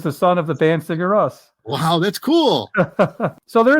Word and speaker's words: Sigurðsson: I'm mispronouncing it. But my full name. It's Sigurðsson.